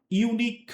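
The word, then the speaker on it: unique: যেমন this is আ ইউনিক কার, এখানে ইউনিকের ইউ দিয়ে শুরু হয়েছে, মানে ভাওয়েল দিয়ে শুরু হয়েছে, বাট the pronunciation is ইউ। প্রোনাউন্সিয়েশনটা হলো ইউ এর মতন, এই জন্য আমরা আর্টিকেল কি ব্যবহার করছি?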